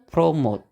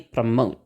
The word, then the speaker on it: promote: aja jadi promote gitu Jadi bukan promote atau promote gitu apalagi itu salah ya jadi promote gitu pengucapannya nah e kebanyakan kata-kata